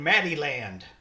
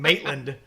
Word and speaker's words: Maitland: I got a meeting over in Maddieland." I'm like, Maddieland? What? And he was It's just not even spelled that mispronouncing. way. He was just mispronouncing Maitland. Maddieland.